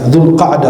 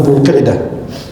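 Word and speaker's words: ذو القعدة: Bulan Dzulqa'dah, pelafalan tempatnya Dzulqa'dah bukan Dzulqa'dah.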